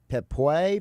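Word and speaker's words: Pepiot: I guarantee I'm going to say this guy's last name wrong, but it's Ryan Pepoy. Yeah. Pepoy?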